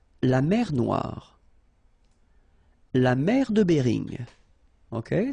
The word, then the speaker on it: Noire: Then here, la mer Noire. Same thing here that we had previously. Final E not pronounced, okay? And then O-I, remember, wa, noir, noir. La mer Noire, okay?